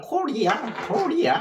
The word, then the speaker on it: 고려: 그래서 우리나라를 코리아 하잖아요. 그게 코리예요, 코리. 원래 고려라는 말은 한문식 발음으로 나중에 후대에 하다 보니까 고려지, 원래 코리예요, 코리.